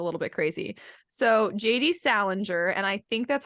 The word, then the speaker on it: Salinger: Salinger, and I think that's how you pronounce his name.